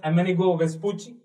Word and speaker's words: Amerigo Vespucci: Next కొంచెం తర్వాత కాలంలో another sailor అమెనిగో వెస్పూచి, it has to be pronounced as Amerigo Vespucci.